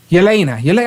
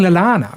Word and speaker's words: Yelena: I'll get one in a minute, but teach me how to say her name properly. Liana Belova? Yeah. Lena. Yelena. Oh, that's easy. Why do I keep saying Lalana?